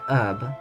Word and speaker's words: herb: The H is silent in US English, but whatevs. Okay, herb.